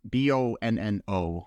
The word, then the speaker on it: Bonno: Chris Bonno or Bonno, Bonno is how it's pronounced.